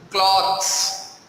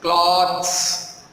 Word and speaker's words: cloths: People are normally mistaken about clothes and cloths. You hear my pronunciation? Clothes and cloths. Clothes, cloths.